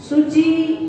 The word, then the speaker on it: शुचिः: यहाँ करेंगे सा बाह्याभ्यन्तरे शुचि, तो आपने एक स्वर बढ़ा दिया, बड़ा सा कर दिया, जबकि छोटा सा है तो इसका उच्चारण करेंगे सा बाह्याभ्यन्तरे शुचि।